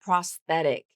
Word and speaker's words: prosthetic: And then one other tricky pronunciation the of the word prosthetic and that has a th a voiceless th right in the middle.